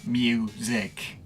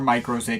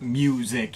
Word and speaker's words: µ-Ziq: only Mike paradinas AKA mic or microz if you want to say it that way I've gone back and forth with it but mic is the official pronunciation at this point I've reviewed this guy's